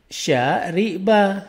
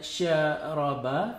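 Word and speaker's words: شرب: bentuk lalunya itu adalah syariba ya. Jadi walaupun asal katanya ini adalah kita bisa menulis kelihatan ini bukan bacanya syaraba tapi syariba.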